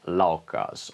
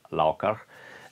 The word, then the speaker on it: Laukaz: So this symbol, this runic symbol R, means therefore that it should be pronounced as Z if we want to use the pronunciation of ancient Germanic times, therefore Laukaz, and as R, a